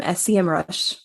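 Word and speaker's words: Semrush: yeah there's um an amazing tool that um SCM rush I I said it right yes you did I'm surprised I'm loving sem Rush okay these people made their tool for Minds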